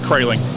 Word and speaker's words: Kraeling: Did I get Kraeling right? Kraeling. Kraeling, that's right. I've heard it pronounced a variety of ways. So. I see the R.